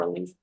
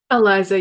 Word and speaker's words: Eliza: Is it Eliza or Elise? Alisa? Eliza, you got it.